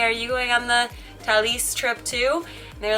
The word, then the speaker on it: Thalys: I went on a media trip with Thalys, which I learned is not Thalys, it's Thalys, and even better, Thalys.